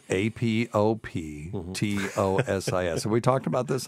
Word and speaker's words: apoptosis: a word that means programmed cell death it's AP o p t o s i s have we talked about this on the show